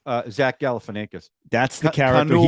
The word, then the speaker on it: Zach Galifianakis: Zach Galifianakis.